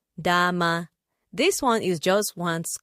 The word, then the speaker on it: dama: We also have the next word is spelled d a m a which is pronounced dhama.